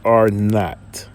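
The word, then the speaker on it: R₀: The exact threshold depends on the effectiveness of the disease, represented by the basic reproduction number called R with the little zero at the bottom. Is pronounced R naught.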